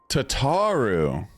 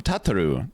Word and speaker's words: Tataru: Tataru. I was calling him Tatu.